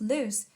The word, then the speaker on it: Luce: Pronounced Luce, this name that refers to the Virgin Mary, Our Lady of Light.